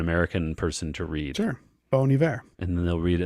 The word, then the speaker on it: Bon Iver: Bon Iver and then someone corrects them they say Bon Iver and you're like oh that was not obvious but sure and now they say that the reason why is because if you say it like that it sounds like the French word for good winter uh well uh good